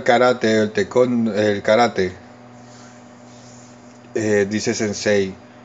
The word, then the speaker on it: sensei: sí y si no se escribe sensei candy66 pero se escribe y se dice sense mucha gente dice sensei pero no es en sí y sobre todo mucha